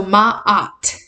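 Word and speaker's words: Maat: the little asterisk and there's 2a so ma opt you gotta you gotta remember how to say it there's there's two A's so there's like the UH you pause and then another awesome opt um that um she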